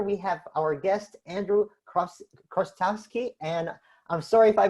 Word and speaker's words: Chrostowski: And here we have our guest, Andrew Chrostowski. And I'm sorry if I butchered your last name. Welcome to the program. And how do you pronounce your name? Thanks, Sammy. It's great to be here. Andrew Chrostowski, and it's a pleasure to be with you